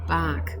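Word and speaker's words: Bach: in the other series dr edward batch at the turn of the century or his name's prin appropriately pronounced dr edward bark but anyway so i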